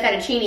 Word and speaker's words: fettuccine: a drama okay you should say fettuccine it says because it rhymes with steamy this is hot and